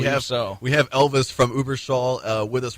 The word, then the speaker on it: Überschall: band coming out of Blue Man Group is Uber Shaw which I I think I'm pronouncing correctly but we have we have Elvis from Uber Shaw uh with us right now am I saying